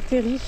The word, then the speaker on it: terril: fait encore d'ailleurs on s'en va sur le Terry de Rimbert alors moi je dis Terry parce que c'est vrai que ça s'écrit T e r donc il y en